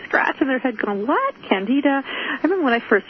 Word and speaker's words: Candida: are if you're in the medical profession they pronounce it Candida and it's an organism it's a type of